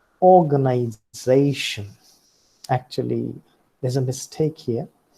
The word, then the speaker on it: organization: So what is more important in this word are the 2 syllables. One is or, and the other is they. Now, the sorry, uh, the mark at the bottom is called as secondary accent, and the mark at the top is called the primary accent.